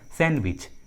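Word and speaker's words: sandwich: उसी तरह handsome, handsome, इसका सही उच्चारण होता है हैंडसम, हैंडसम नहीं होता, हैंडसम होता है, हैंडसम डी साइलेंट होता है। उसी तरह सैंडविच, सैंडविच, इस इंग्लिश वर्ड में भी डी साइलेंट होता है, डी का उच्चारण नहीं करते।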